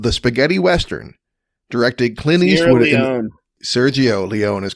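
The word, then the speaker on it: Sergio Leone: Leon didn't you yeah I definitely left like the G sound out in one anyway you knew it you you knew it Sergio Leon yeah it was a soft G Serio Le oh well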